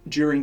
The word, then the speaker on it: during: Much of my evidence consists of witness testimony from people who were on site during the incident. I always pronounce my durings with a J. It's very Australian.